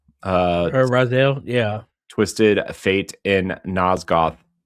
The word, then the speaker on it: Raziel: Raziel? Raziel, yeah.